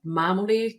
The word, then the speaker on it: Mamoli: It's Mamoli, just straight up Italian.